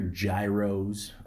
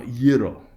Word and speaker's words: gyros: that's another thing too I don't want to hear Gyros okay that's that's very uh you know uh yeah you know what I'm going to say but uh you know Euro okay say it like this Euro okay it sounds good